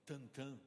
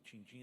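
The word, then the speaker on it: Tintin: Que é Tantan na pronúncia e tal, mas aqui no Brasil, Tintim, as aventuras de Tintim.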